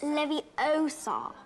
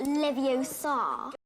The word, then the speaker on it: Leviosa: someone's eye out besides you're saying it wrong it's Leviosa not Livio Saar you didn't run fast